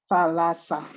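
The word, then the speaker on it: θάλασσα: The theta, how do you pronounce the theta? like think. So Okay. it's tha, so theta alpha is tha, la, sa. Thalassa.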